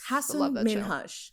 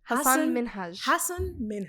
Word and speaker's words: Hassan Minhaj: Hassan Minhaj. Hassan Minhaj.